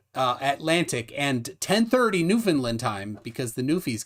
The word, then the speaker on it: Newfoundland: eastern 10 what uh atlantic and 10 30 newfoundland time because the new fees gotta know uh